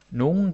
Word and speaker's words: nogle: Maybe I should also mention that nogle gange you can hear me saying it like nogle gange. You're like, Thomas, what the hell? It's spelled nogle. Yeah, it is. That's because in real life we almost never say nogle.